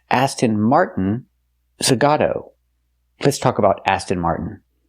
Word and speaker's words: Zagato: Aston Martin Zagata. What? Nice. It's not pronounced Aston Martin. Zagata. is pronounced Aston Martin Zagato.